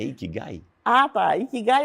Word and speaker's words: ikigai: E tem um outro lá também no seu currículo, eu não sei se eu pronunciarei certo, você me corrija. O que é ikigai? É ikigai.